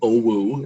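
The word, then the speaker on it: OWU: shout out uh to oh wu is how you pronounce it um and then when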